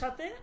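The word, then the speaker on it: سی: 30 কে বলবো আমরা সি। এই যে এখানে আছে সি। সিন ইয়া সি। সি মানে হচ্ছে 30। সি মানে কি? 30। সে না কিন্তু।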